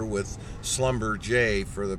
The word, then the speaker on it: Schlumberger: It's actually spelled Schlumberger, but they've got some kind of fancy French pronunciation going on here with Schlumberger for the pronunciation there.